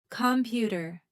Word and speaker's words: computer: Computer. Stress is on the second syllable.